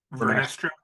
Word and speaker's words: Vernestra: How do you pronounce her name? Vernestra?